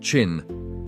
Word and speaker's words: Qin: The name of his dynasty, Chin, pronounced Chin, gave us the name China.